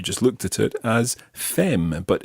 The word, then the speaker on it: femme: about your wife, you would talk about ma femme. Ma femme. Okay, so the word for wife is femme. Now be careful with that one, because if you see that written down, you'll notice that it's spelled F-E-M-M-E.